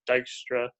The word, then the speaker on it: Dijkstra: So this is an algorithm due to the, I think, Norwegian mathematician, I believe the way you pronounce this name is supposed to be Dijkstra.